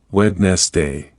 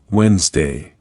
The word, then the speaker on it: Wednesday: Many learners try to pronounce every letter, Wednesday. But when you listen to native speakers, you learn that the D is often silent. The real pronunciation is Wednesday.